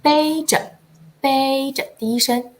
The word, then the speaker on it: 背: 好的，我们说，李小姐背着第一声 2 个小宝